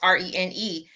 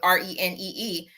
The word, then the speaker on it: Rene: That's like when people send me an email, clearly my name is Rene, and they respond back with Renee, and I reply back with "Thank you."